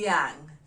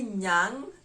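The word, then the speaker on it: nyang: to cow in the luo how do we spell it d-h-i-a d-h-i-a-n-g with an apostrophe d-h-i-a-n-g with an apostrophe the yang diang refers to a cow number 13 hyena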